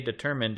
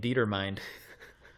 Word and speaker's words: determined: it was determined I've heard people say determined in real life and I saw the word in a book but I didn't realize they were the same and I was in my head it's pronouncing it dieter mind I love that yeah